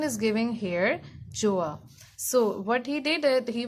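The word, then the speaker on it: Gjøa: The pronunciation is given here, Joa.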